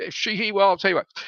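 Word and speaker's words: Sheehy: my name is SH2EHY, which could be She-He or She-Hi. And it's typically pronounced in the Irish pronunciation as She-He. It was O She-He, but somewhere down in the annals of time, in our family got kind of a She-Hi.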